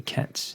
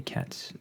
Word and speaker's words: ket: as the product of a bra and a Ketch this here is what's called a cat's that's spelled k-e-t and this here is the bra